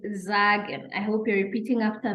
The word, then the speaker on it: sagen: Then now we're saying that when S is followed by a vowel, then we pronounce it as Z.